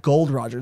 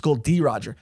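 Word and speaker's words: Gol D. Roger: wrong in the media it's not gold roger it's called d roger weber's like yeah i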